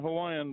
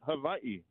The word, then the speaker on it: Hawaii: Okay, first of all, my wife's Samoan, and she's not Hawaiian, but they say it Hawaii. Hawaii. Anyhow. They don't have the V in there.